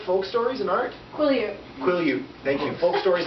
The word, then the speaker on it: Quileute: I can't pronounce this. Okay, Katie, help me with it. Kilowatt Folk Stories and Art? Quileute.